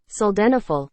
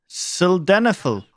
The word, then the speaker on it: sildenafil: Sildenafil. Sildenafil. Try to put less emphasis on this vowel and pronounce it quietly. Sildenafil.